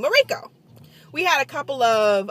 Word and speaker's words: Mirko: was mariko m-i-r-k-o mariko so that's how i pronounce her name morico we had a couple of uh elective classes